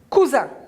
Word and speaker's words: cousin: ce 2 s si j'enlève le s j'aurais cousin c'est vrai voilà cousins ils sont cousins c'est le cousin celui là c'est le cousin de celui là est lui aussi d'accord voilà un cousin alors cousin regardez veut parce que le s il est